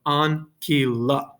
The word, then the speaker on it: ancilla: So if you had this word here, ancilla, there's 3 syllables there. You have ancilla, right? Because you have an A, an I, and a second A, right? So you have 3 syllables or 3 vowels.